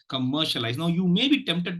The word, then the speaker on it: commercialize: this no compare okay commercialize commercialize commercialize commercialize now if you notice the second syllable is being given the